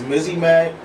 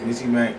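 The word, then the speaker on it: Mizi Mac: My name is Mizzy Mac, M-I-Z-I-M-A-C, Mizzy Mac. That's how you spell it.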